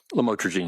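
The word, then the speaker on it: lamotrigine: about the u the lamel otherwise known as lamatraine. Did I pronounce that right? Lamotraine.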